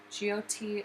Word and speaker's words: Jyoti: GOT is spelled JYOTI, and it is a Sanskrit word for light.